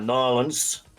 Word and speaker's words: New Orleans: So you got Nolans. That's how you say it, by the way. I don't care what nobody says. It's Nolans. I ain't even from there, and I know so.